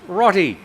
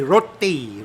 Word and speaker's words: roti: Rotty. Rotty. Okay. I say roti. Roti. But you're pronouncing it like the ties pronounce it.